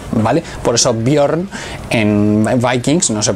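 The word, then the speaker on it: Björn: Se escribe Mjolnir con esta J, porque que sepáis que en sueco, en las lenguas nórdicas, la J se pronuncia como una I, ¿vale? Por eso Bjorn en Vikings no se pronuncia Bjorn, se pronuncia Bjorn, ¿vale?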